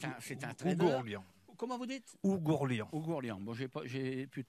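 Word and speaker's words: Oughourlian: Monsieur Joseph Ouglorian, je le prononce bien, c'est un trader. Comment vous dites? Ougourlian.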